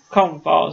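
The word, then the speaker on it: Coomb Falls: Anderson to be careful scary definitely and it has filling to come kuba falls comb falls those are called comb Falls but it's spelled ce o-- o m b8 follows one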